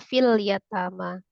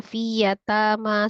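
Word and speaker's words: في اليتامى: 127 tadi ada penambahan lam fiyatama dibaca fil yatama. Harusnya fiyatama saja ya.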